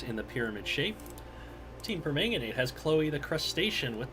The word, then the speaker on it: permanganate: yeah we have the Egyptian Legends facing chemists of Team permanganate it's the chemist's approach which I mistakenly originally pronounce permanganet it sounds like a fruit kind of does so the Egyptian